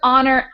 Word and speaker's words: honor: So words that don't have the H sound, even though they're spelled with H, are herb, honor, hour, and of course I mentioned earlier, honest.